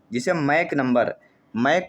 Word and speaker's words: Mach: मैक संख्या का, जिसे मैक नंबर, मैक को स्पेलिंग है MACH बोलते हैं, जहाँ S साइलेंट होता है, मैक नंबर आता है।